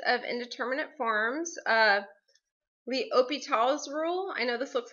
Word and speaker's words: L'Hospital: 6.5 is limits of indeterminate forms of the Opie tall's rule I know this looks like hot l'hospital's rule but it's actually pronounced that Opie tall's rule okay um and you can look up